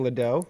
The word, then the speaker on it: Ledoux: Ledoux. I was saying Ledoux, so it's Ledoux.